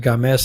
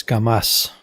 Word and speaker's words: Gamas: I may have said Games and it's Gamas.